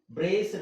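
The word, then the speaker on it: braced: ಉಚ್ಚಾರಣೆನಡಿ ಅಂತ ಇದೆ ಅಲ್ವಾ ಈಗ ನೋಡಿ ಬ್ರೇಸ್ಡ್ ಅಂತ ಇದೆ ಬ್ರೇಸ್ ಬ್ರೇಸ್ಡ್ ಸೋ ಸಿ ಎಗ್ ಅಲ್ಲ ಈ ಎಗ್ ಸೈಲೆಂಟ್ ಆಗಿರುತ್ತೆ ಉಳಿಯೋದುಏನುಡಿ ಅಲ್ವಾಡಿ ಓಕೆ ಸೋ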